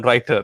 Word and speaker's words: Rytr: rhymed like you know writer as in writing yeah so uh you